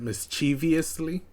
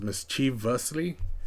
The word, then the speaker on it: mischievously: like to pronounce it mischievously uh but it's the prct pronunciation is mischievously as you can see there's no I in between here but because of the